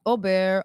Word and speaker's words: Aubert: feel to be Albert am I pronouncing your name correctly oh bear Auburn it depends people who you know how do you pronounce it in France in France they say oh Bear yeah I know but